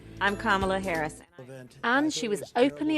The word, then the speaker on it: Kamala: her a politician of substance pamela it's not kamala it's not camella but she still had to teach the country how to say her name i'm kamala harris and she was openly attacked by the